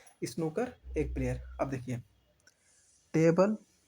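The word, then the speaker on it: snooker: चलिए नेक्स्ट देखिए, सुकर, सुकर क्या होता है, सुकर में एक प्लेयर, सुकर में, सॉरी सुकर नहीं है, हम भी गलत प्रोनाउंसिएशन कर रहे हैं, स्नूकर में एक प्लेयर, स्नूकर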